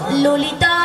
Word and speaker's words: ললিতা: মাসি কি ওটা লালায় লালায়ও নয় তাহলে? আর ললয় ললয়ও নয়। তাহলে বলো হ্যাঁ। ললিতা। লো লো লো লো বলো ললিতা, ভালো করে উচ্চারণ করতে পারছো না?